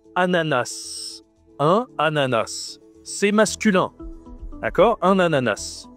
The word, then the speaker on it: ananas: Un ananas. Tu peux aussi dire un ananas. Les deux prononciations sont possibles.